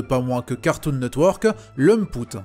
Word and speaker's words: Lamput: moins que Cartoon Network, Lumput. Apparemment c'est comme ça que ça se prononce.